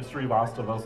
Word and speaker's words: Srivastava: that beautiful introduction and actually my name is pronounced correctly srivastava so that's actually fantastic